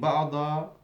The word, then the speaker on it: بعض: What's the difference between بعض with a dot, strong, and بعد, soft, دال. بعض بعد. Okay. Not only there is a difference in pronunciation, and this is very clear to the Arabs. The Arabs will not get confused. They distinguish clearly between the dad and the dal.